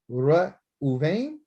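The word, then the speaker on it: ראובן: And you know, the Ra'ah means to see, and Bain means son. I see his son, and that's what his mother named him. Once you be able to say his name, Ra Uven or Uvain, Ra Uvain, Ra Uvain.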